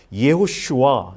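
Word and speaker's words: יהושע: 이 여호수아라고 하면 말 그대로 지금 보는 히브리어에 있어서의 그냥 여호수아, 예슈아 이렇게 발음하는 책이고, 이 여호수아는 야훼라는 단어와 이 호시아라는 단어의 합성어예요. 그래서 예호슈아, 예슈아 해서 야훼, 우리가 잘 아는 여호와라는 그 하나님의 이름이지요.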